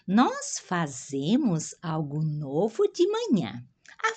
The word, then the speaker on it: fazemos: Nós outros hacemos, português é nós fazemos, ou aqui, quem sabe inglês, a Z se pronuncia bem forte, como inglês, né?